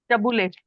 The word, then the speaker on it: Tabbouleh: Tabbouleh. Tabbouleh.